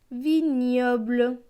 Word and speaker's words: vignoble: Le mot suivant, V et I, vie. GN, GN c'est ñ. Avec le O, cela donne gnio. BL, BL c'est bleu. Avec le E, cela donne bleu. Donc ce mot va se lire bleu, vignoble. Le mot suivant, OI, OI c'est oie.